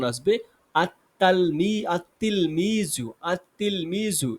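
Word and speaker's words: التلميذ: আমাদের উচ্চারণ আসবে আততাততাল আততিলমিজু। আতলমিজু। এখানে লাম উচ্চারণটা আসছে না।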